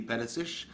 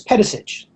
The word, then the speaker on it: Pedisich: Pedisich. And am I pronouncing that right? It's slightly off. It's Pedisich. Pedisich. Like Milosevic or something like that, you know.